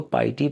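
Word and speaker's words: piety: इसको पाइटी पढ़ना अक्सर बच्चे गलत प्रोनाउंस करते हैं, पिटी पढ़ते हैं। पिटी का मतलब तरस होता है, ये पाइटी है, इसका मतलब होता है तकवा, परहेज़गारी।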